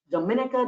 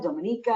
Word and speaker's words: Dominica: which by the way Dominica Dominica it's like potato potato tomato tomato it doesn't matter how you want to pronounce it it has a UNESCO